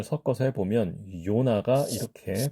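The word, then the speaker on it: יונה: 자, 이것을 우리가 아까 연습했던 Y의 발음을 섞어서 해보면, 요나가 이렇게 발음이 된다면, 그 Y를 발음하는 발음, 히브리식 발음은 요나, 요나.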